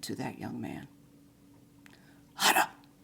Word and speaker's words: hara: Hara, hara. Or in our English pronunciation, hara.